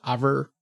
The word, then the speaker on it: oeuvre: It's something French, but I think it's pronounced over.